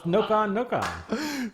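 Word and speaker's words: ノコノコ: It says Koopa Troopas, or Koopas known in Japan as, how do you pronounce that? Noka Noka? It's Noka. It's Noka Noka.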